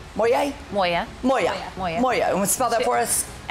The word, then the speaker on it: Moya: Our fabulous Moya. Moya? Moya. Moya. Moya. Moya. You want to spell that for us?